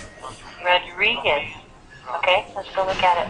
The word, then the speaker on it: Rodriguez: Rodriguez. Okay, let's go look at it. Right. Yeah. Uh, your first R sounds great. Your second R just not quite as round as first one.